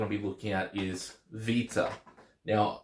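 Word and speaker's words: βήτα: be looking at is Vita now I pronounce it with a V sound because that's how it's pronounced in modern Greek and I wrote it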